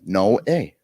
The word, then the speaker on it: Noe: What's the pronunciation? Noe. Noe. Because we didn't have the little accent. I looked. Just how it's spelled. No A. There's no way in there. Yeah. You got it.